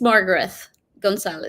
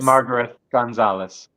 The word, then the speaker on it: Margareth Gonzalez: Margarith or Margaret, how do you actually pronounce? It's Margaret Gonzalez. Margaret Gonzalez.